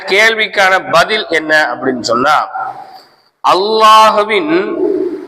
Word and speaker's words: الله: பதில் என்ன அப்படின்னு சொன்னா அல்லாஹ்வின் லாமுக்கு முன் ஜபர் அல்லது பேஷ் இருந்தால் அந்த லாமை நிறைவாக பல்லிரமாக தபீம் செய்து உச்சரிக்க வேண்டும் சரி இப்ப நான் சொன்ன